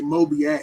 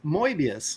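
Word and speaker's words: Moebius: say it we're we're we're American we say mob ass you say Mobi ass but no apparently it's it's mbius is how it's supposed to be pronounced so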